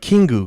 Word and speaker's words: Kingu: get his name right it was like kingu because i was like oh it sounds like king yeah they slayed kingu k-i-n-g-u